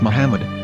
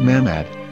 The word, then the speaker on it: Muhammad: According to Ben Yehuda's Hebrew English dictionary, it is correctly pronounced as Muhammad, not Mahmad.